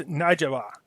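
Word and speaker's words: Nujaba: So, yeah, anyways, he's going after, let's see here, there's two Iraqi militia groups, the Hezbollah, and I believe this is pronounced Najaba, okay?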